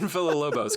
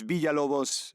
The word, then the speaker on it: Villalobos: Before I say this, before I butcher this, uh, Brian Filobos, correct?